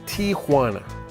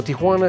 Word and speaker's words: Tijuana: While people popularly call it Tijuana, the real name is Tijuana. The J is actually pronounced like an H. You know, Tijuana is a city of contrasts.